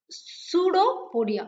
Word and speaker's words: pseudopodia: சூடோ means B is silent here, you should not pronounce this be. Okay, B is silent here. Pseudopodia.